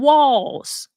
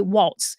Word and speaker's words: Walz: said, by the way, it is Tim Walz. It's spelled W-A-L-Z, but it's Walz, like W-A-L-L-S, okay? Because I know a lot of y'all out there are going to want to say Waltz, because we're going to put that T on it, like how we do period.